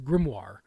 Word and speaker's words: grimoire: see grimoire yeah yeah yeah that's what it is grimoire that grimoire yeah that's right thank you I was